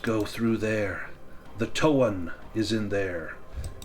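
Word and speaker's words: Toan: The towan is in there." And that is spelled T O A N. Towan.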